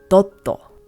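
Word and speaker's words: ドット: Japanese this is pronounced doto in Chinese this is pronounced d and in English this is pronounced dot the Japanese pronunciation is Katakana which means that it is adapted from English thus you can hear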